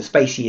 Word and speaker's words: spaCy: stick in the word this is how you pronounce it officially I'm going to pronounce it this way okay so Spacey is the right terminal there you go Spacey Spacey right so I'm saying it right just in case I was saying it wrong I didn't have to